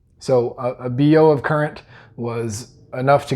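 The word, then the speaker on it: Biot: said was equal to one BO. And this is a French name, so that's why it's pronounced kind of funny, but the amount of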